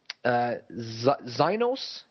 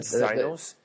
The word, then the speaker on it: Exynos: I don't know how to pronounce this processor, so bear with me. Zynos, or I'm not sure how it's pronounced, but Zynos. So EXYNOS.